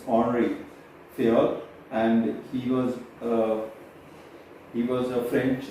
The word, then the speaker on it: Henri Fayol: And Henry Fayol, we discuss in terms of French, when you pronounce it's Henri Fayol, and he was a French management theorist, and his theory is yet widely influenced right now also.